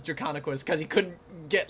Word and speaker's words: Draconequus: much of him saying Dracula is how you pronounce Draconequus, because he couldn't get like a Dracon Esquus. Dracon Chex Mix. Dracon Queso. Yeah, it's Drakon, dragon, equus, equine, dragon horse.